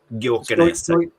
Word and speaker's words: Gyökeres: I don't know how to pronounce his name, but Gyökeres.